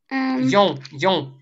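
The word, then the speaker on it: よん: Как произносится 4? Йон. Йо и носовой Н.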